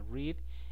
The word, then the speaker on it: read: Otro verbo irregular sería read y el pasado se escribe igual pero se pronuncia diferente, entonces sería read y read.